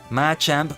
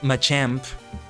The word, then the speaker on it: Machamp: matchup match amp Machamp I switch pronunciations of that a lot I just was so used to saying matchup matchup match amp until I start the listening people saying it in English and they started and I realized they started saying in Machop Machoke Machamp which I guess I